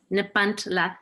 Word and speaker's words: Nepantla: This particular poem, Christina, I'll let you pronounce Nepantla. Nepantla. Nepantla, yes.